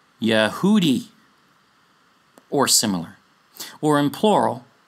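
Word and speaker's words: יהודי: you this is pronounced Yehudi, or similar, or in plural, Yehudim. Yeh, not Yah, Yeh.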